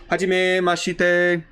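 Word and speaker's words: はじめまして: kind of leave off, it's almost like pronouncing it, they almost leave off the I in there in terms of Romanji. So it's kind of like Hajime ma shite, kind of shite, like the I isn't really there even though it's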